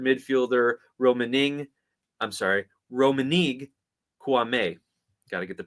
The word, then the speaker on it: Kouamé: club has acquired midfielder raning I'm sorry Roman kuame got to get the pronunciation right it's on the guide there uh